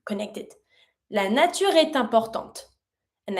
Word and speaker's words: importante: La nature est importante. And I pronounce my last T from importante because it's in front of the mute E.